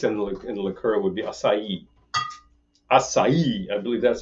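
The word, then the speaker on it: açaí: Actual pronunciation of the juice and the liqueur would be acai. Acai. I believe that's how it's said. There's an accent on the I. I said acai for years, and actually nobody understands that in Brazil.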